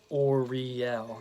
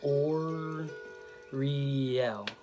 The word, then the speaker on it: Uriel: on my left hand or real that's how he Donald Michael Craig has the pronunciation of this archangel so or real and the last two syllables are the ones that are pronounced or accented so it's oh yeah